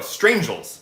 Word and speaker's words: Strangel: strange strange stranger strangers noit no strangel that's what that's how your name is pronounced I remembered that strangel